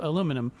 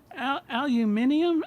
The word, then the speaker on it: aluminium: now my only quarrel with is this mispronunciation you have of aluminum, because Okay. I mean aluminium.